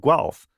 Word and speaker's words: Guelph: So I work for a university called the University of Guelph. That's how it's pronounced.